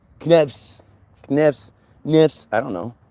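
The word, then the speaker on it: Knavs: We're talking about K N A V S Kavs. That was her name. Navs. Knavves. Kavs.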